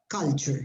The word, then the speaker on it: culture: pronunciation of that word culture the pronunciation of this is the same as cup cup of coffee cup culture okay yeah that's one